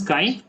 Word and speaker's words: chi: it is known as chi. Okay, it is known as chi. I mean, it is written as CHI, but it is pronounced as chi.